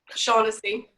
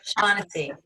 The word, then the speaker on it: Shaughnessy: Shaughnessy. Shaughnessy. Okay. It sounds like SH, but it's spelled CH. Okay, so Shaughnessy.